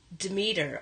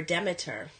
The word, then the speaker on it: Demeter: gonna with work with Demeter or Demeter depending on how you pronounce her she is about the